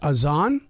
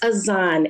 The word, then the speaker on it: Az'an: name so pron is is it Aon it's aan a z n I love the way